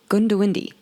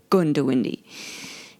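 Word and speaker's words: Goondiwindi: something differently or better last week it was Gundy now if you're not from Australia this is actually written g o n d i w i n d i gundi yeah that's not how you pronounce it apparently as I get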